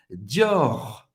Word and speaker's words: Dior: Dior. Dior. Ok? Dior. Dior. Você vai pronunciar o R no final, pode insistir.